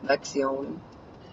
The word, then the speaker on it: Lexion: Lexion. That's how it's pronounced.